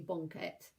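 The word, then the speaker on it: banket: which is basically like, if you think of blanket and take the L out of it, so banquet, and it's pronounced obviously bonket.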